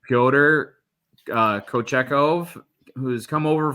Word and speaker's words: Pyotr: so i'm going to call him peter but it's more like pyotr uh kochecov who's come